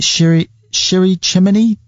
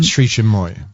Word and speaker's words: Sri Chinmoy: Is it Shiri Chimney? No, Sri Chinmoy. Sri Chinmoy.